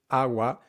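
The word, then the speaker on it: agua: the comments if you practice the word AWA keeping the syllables nearly equal in length softening the G and not reducing that last a sound those habits are going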